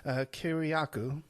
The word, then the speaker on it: Kiriakou: or before it's news articles saying that John Kiriakou, I pronounced that correctly, right, Kiriakou?